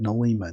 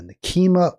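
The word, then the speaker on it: Nekima: Nikima, I said Nol Lima. Nikima Levy Armstrong.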